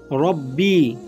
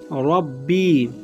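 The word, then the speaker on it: رَبِّي: রব্বি, রাব্বি বলবেন না, রব্বি রব্বি।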